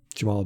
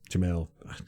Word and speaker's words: Jamel: Jamel. God, it's going to be another year of me saying You have Jamal. the hardest time with that. I know. And it's just pronounce it like it's spelled.